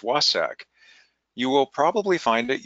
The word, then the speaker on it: WSAC: achievement Council by its acronym which is wsac pronounced wah sak you will probably find